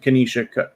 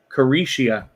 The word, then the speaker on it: Carisha: Sorry, I said Kanisha. Carisha. No, sorry. Carisha.